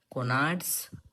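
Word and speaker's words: Couinaud: सो इसे हम कहते हैं कोनाड्स हिपैटिक सेगमेंट। ये एक साइंटिस्ट का नाम है कोनाड्स। फ्रेंच साइंटिस्ट है। प्रोनाउंसिएशन में इसको ऐसे ही प्रोनाउंस किया जाता है। कोनाड सेगमेंट।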